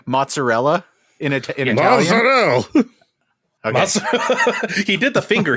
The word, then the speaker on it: mozzarella: Steve, can you give us a good pronounced mozzarella in Italian? Mozzarella.